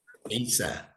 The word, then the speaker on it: Isa: Isa, ISA. See, sounds like Esos.